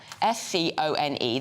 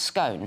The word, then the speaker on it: scone: you can't say it 60 of people responding to this survey said that see s-c-o-n-e that you put clotted cream and jam on should be pronounced to rhyme with bone it's gone so it should be pronounced scone yes I I say scone do you I do oh only 40 say it's gone which is clearly the correct I say it's gone